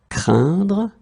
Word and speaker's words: craindre: Craindre, craint. And even if you write it differently, the sound is exactly the same as we had previously. Un, craindre, same thing here, craint.